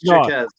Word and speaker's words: Jaquez: You said it right. It's Jaquez. Yeah, it's Jaquez.